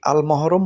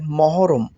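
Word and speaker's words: محرم: জানুয়ারি আরবিতে হবে মহররম অনেকেই আল মহরম বলে থাকেন কুয়েতের তবে আরবিতে উচ্চারণ হবে মহররম আপনারা আরবিতে জানুয়ারি সমান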